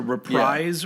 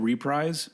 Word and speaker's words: reprise: When I was a kid, I always said reprise, but I was like, that sounds not right, because it's not like you're prizing something again. It's reprise.